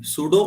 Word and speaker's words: pseudo: सूडो prime, सूडो मतलब छद्म, झूठा। तो सूडो जब भी लगेगा किसी के आगे तो पी साइलेंट होगा।